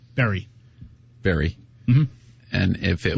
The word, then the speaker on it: Barry: So that is pronounced Berry. Barry.